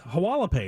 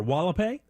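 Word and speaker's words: Hualapai: to clean up h-u-a-l-a-p-a-i it's hawala pay right or wall-a-pay such a jimmy koala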